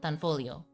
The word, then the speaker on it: Tanfoglio: the the G Son Tanfolio So the G is silent. It's an Italian uh gun company.